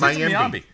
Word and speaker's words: Mayimbe: It's Mayimbe.